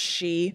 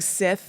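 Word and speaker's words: Sidhe: don't know it all that word is spelled like Sith but it's really pronounced she yeah yeah I kept just saying Sith yeah and Sith yeah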